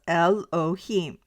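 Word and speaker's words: Elohim: The Hebrew word translated as God in the Hebrew writings is Elohiym. It is pronounced as Elohiym.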